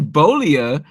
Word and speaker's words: Beaulieu: A guy who I know you made fun of me for mispronouncing his name before, but I've been practicing. Nathan Beaulieu is producing again, and he's back on the